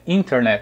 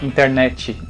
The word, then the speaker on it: internet: de internet por exemplo a pronúncia original em inglês é internet a gente fala internet né o finalzinho mais forte em português muitas vezes a sílaba tônica sílaba que é mais forte para lá no finalzinho da palavra inglesa maioria tá tudo antes né tá no meio ou no começo aqui que a gente